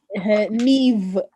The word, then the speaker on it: Niamh: these like Russian names that we learn to pronounce. Whatever it is. Neve, and like when it's called Niamh, and you know how to spell it.